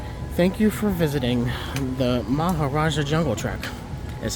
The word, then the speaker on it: Maharajah: end of this thank you for visiting the Mahar Raja jungle truck that's how it's properly pronounced okay when you're done you cut it